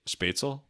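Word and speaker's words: Spätzle: Spatel.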